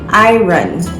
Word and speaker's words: iron: this word in barbados this word is pronounced i run not iron like most of the the most of the free world most english-speaking countries say iron you iron your clothes